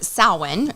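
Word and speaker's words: Samhain: traditional Celtic holiday actually um which name is sin that's how it's pronounced and in although it looks like Sam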